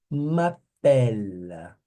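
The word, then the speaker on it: m'appelle: Tá J Tá J mapela mapela eu vou até o l aqui ó a pronúncia vem até aqui ó mapel Leonardo Matos pela Leonardo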